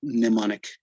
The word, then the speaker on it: mnemonic: we have a mnemonic notice the pronunciation it's like the m is silent and you just call it mnemonic okay so uh what